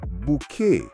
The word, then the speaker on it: Bucket: Now remember, it's pronounced bouquet. Mr. Porthy, good morning, Mrs. Bucket.